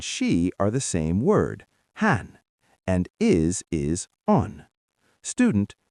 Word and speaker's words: hän: Han and is is on.